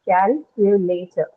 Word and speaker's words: calculator: I have calculator, 4 syllables, right? And among those 4 syllables, my first syllable cal, that is stressed, right?